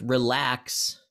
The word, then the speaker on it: relax: I think relax is, that's another example of going from the way we pronounce relax is weak strong, and this is strong weak.